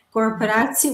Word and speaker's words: corporatie: Corporatie, when we have the TEA at the end, the pronunciation is C.